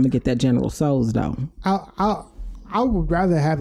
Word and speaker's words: Tso: I just looked up how to pronounce this General Tso. So okay. Yes, General Tso. You don't say the T. The T is silent.